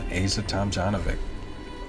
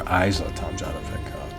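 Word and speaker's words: Ajla Tomljanović: Asa Tomljanovic, or Isa Tomljanovic, depending on where you're from. That can be pronounced a couple different ways.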